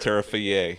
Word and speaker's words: Terrifier: I believe it's pronounced Terrifier.